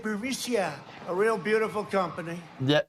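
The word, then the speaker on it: Burisma: know bureau missile burmesia they say pronounce it bermisia a real beautiful company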